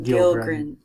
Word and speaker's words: Gilgren: Gilgren. Like a fishy gill, smiling. Like Pilgrim, except with G's.